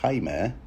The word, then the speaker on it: Jaime: have I mentioned that since the name isn't really spelled dreamy uh but rather like the Spanish name haimer we might as well pronounce it that way yeah have I yeah